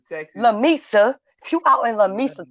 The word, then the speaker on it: Lamesa: How you pronounce it? Lamesa, Texas. Lamesa.